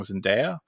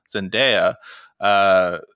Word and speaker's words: Zendaya: the people I think I'm saying it wrong zendaya zendaya is the girl that plays MJ in the